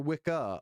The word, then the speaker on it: Wicker: Roger Wickah. It's Roger Wicka. Okay, guys. Say his name right.